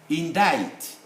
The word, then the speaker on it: indict: blah and so on we write the c but we don't pronounce it vetoes the provisions you